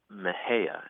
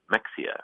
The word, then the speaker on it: Mexia: a funny town here called Maha and it's spelled m x i a and I think if you're an out of town a Yankee you might be tempted to say Mexia right or some other but